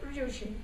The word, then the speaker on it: Ryushin: Eu não sei os kanjis, então não posso afirmar que seja exatamente o mesmo nome, né? Mas a pronúncia é Ryushin.